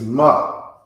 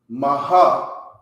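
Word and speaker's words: מה: let's pronounce ma okay ma not maha it's just ma okay you put a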